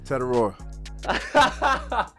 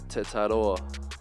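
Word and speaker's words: Tetairoa: Let me hear it, man. Tedoror. That's wrong? My name is Tetador.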